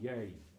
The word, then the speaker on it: Jeg: J-E-G, yay. So, la, ver. The H is silent.